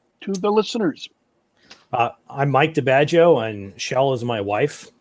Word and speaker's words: DiBaggio: We have Shell Presto and Mike DiBaggio, both of whom, if I'm pronouncing that wrong, I apologize. No, that's correct. All right. I pronounced it like I imagine an Italian name would have been pronounced.